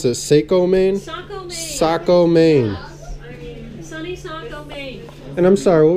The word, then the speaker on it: Saco: RVs Inc check them out how do you pronounce this a co Maine Saco Maine and I'm sorry what was your name